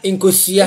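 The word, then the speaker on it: nkosua: Inkosia.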